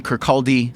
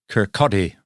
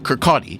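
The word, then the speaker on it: Kirkcaldy: Adam Smith was born in 1723 in Kcaldi, Scotland. So you have to pronounce it Kcotti. Kurcotti. Sorry. Adam Smith was born in 1723 in Kcotti Scotland.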